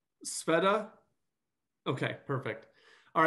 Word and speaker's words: Sveta: And then just so I don't get your name wrong, Sveta?